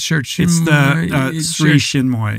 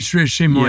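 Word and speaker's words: Sri Chinmoy: It's Sri Shinmoy. Sri Shinmoy.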